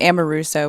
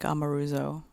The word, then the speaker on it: Amoruso: than it i mean it's ammo russo but it's probably something like amaruzzo or some something that sounds kind of drunk in italian yeah and that's an